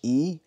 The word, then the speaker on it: HEIS: not how it's pronounced it's pronoun as e you do not separate the h e and the is just join everything together and it pronounce like E I don't understand I've